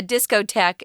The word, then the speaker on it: discotheque: that was called the discotheque this word is spelled kind of weird guys because it's a french spelling a discotek is just a disco so the word